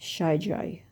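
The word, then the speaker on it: Xeijay: Yeah, the friends that I use Born Pretty, Johnson, Gay, Nice, Deco, and apparently that's pronounced Shay J. I don't know. It's cuz it's a weird spelling. X E I J A Y.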